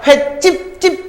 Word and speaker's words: 횟집: 발음하세요. 횟집, 된 소리죠? 그래서 시옷 들어간 거예요.